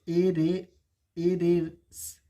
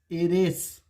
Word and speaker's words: heiress: एरेस। एरेस।